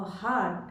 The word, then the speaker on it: heart: We are not just arms and legs, eyes and ears, a heart and a brain. So take care of the pronunciation of heart. It's not hurt.